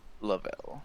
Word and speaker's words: Lovell: lovell is how you want your native you pronounced lavelle i love it just call me yeah lavelle